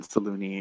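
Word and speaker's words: Selûne: like 5 minutes over whether it's pronounced saloon or saloone. even Salune is apparently correct.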